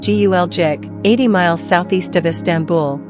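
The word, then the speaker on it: Gölcük: As many as 10,000 people could still be trapped in rubble around the town of Galkuk, pronounced Gulcik, 80 miles southeast of Istanbul, according to the town's mayor, Ismail Baris.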